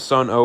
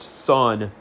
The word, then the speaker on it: Sunn O))): The most popular band, Sun O, which I'll get to a little bit later, initially was formed as a tribute to Earth. And yes, I know it is pronounced Sun, but I could care less.